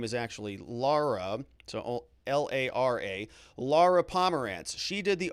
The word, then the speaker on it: Lara: accurate her first name is actually laura so l-a-r-a lara pomerantz she did the opening arguments so